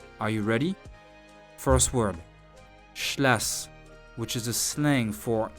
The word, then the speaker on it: schlass: Again, I'm showing you a word, read it, listen to its pronunciation, and repeat after 3 times. Are you ready? First word, schlass, which is a slang for knife.